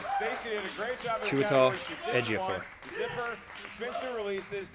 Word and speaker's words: Chiwetel Ejiofor: I can never, ever pronounce his name right. Stacey did a great job. Chiwetel Ejiofor.